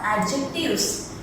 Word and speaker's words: adjectives: Okay, adjective is the third parts of speech, and we should pronounce as adjectives. Here D is silent.